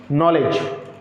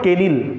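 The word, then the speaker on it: kneel: repeat कीजिएगा फटाफट से knowledge knowledge knowledge नी repeat with me नी नील this is नॉट केनिल नील नो नो नो नाइफ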